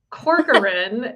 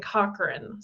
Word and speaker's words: Corcoran: and so it's actually my last name is pronounced um Corin it's not I'm sorry I just like the